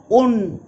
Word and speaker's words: un: The root un is pronounced with a long u to rhyme with moon.